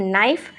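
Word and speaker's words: knife: इसे बोलते हैं नाइफ के साइलेंट है।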